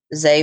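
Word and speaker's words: Zé: Zay is spelled Z-E. Z-E-Y. No, just Z-E, and the E is accented. Zay Fidalgo.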